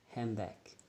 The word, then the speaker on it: handbag: The word handbag in speech, if we pronounce more faster, it will be like handbag. Handbag. So we pronounce without the D.